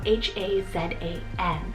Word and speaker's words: Hazan: name hazan spelled h-a-z-a-n i know that there's a couple different ways you could pronounce this one depending on where you live in the world but i tried to say it as close as i could to the turkish pronunciation which is hazan and this one directly